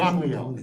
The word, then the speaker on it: Gamaliel: very bottom, okay, upon hearing that Rabbi Yehoshua had challenged his ruling, Rabban, how do you pronounce it? Gamaliel.